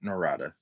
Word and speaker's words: Narada: it's like for me, I pronounce it Narada. Some people might pronounce it Narada. So Narada, it doesn't matter. Like I don't have a preference, but it's been Narada all my life.